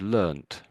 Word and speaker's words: learnt: tempted to use just use the word learned. So don't put the ed just put a t there. Essentially those two words are both equal. I think you can pretty much say that. So learned and learned are the same effectively.